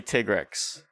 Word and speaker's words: Tigrex: It's officially Tigrex. I get that in Japanese it's like Tigrex or some crap. Yeah. It's something like that, but that makes sense. But you're not, But you're playing in English, so then it's probably Tigrex the way we would,